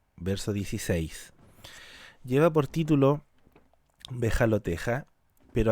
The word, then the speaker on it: Behaloteja: 16 lleva por título bejalo teja Pero hay versiones que dicen que se pronuncia bejalotte que en una traducción